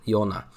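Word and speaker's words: Jonah: Child Soldier called Jonathan Jonathan This Is How They pronounce it Yona this is uh his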